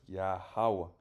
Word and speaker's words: Yahawa: El nombre correcto es Yahawa.